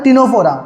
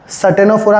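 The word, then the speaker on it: Ctenophora: क्या आता है बेटा टिनोफोरा बेटा सी साइलेंट है याद रखना ठीक है ना तो आप उसको सी ही पढ़ते हो सनोफोरा नहीं पढ़ोगे आप टिनोफोरा ही पढ़ोगे सी साइलेंट है ठीक है तो पोकोसी हो गया।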